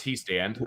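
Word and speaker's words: Hiestand: he says Harry he stand and it is pronounced he stand we need to Notre Dame to hang a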